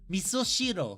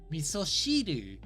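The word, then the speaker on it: 味噌汁: Miso shiro. 味噌汁。 Shiru. Miso shiru.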